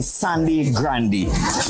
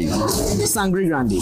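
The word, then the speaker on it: Sangre Grande: Welcome back, everyone, to another episode of Cravings, and today we in Sandy Grande. Pronounce it for me, it's Sandy Grande or Sangri Grande? Sangri Grande.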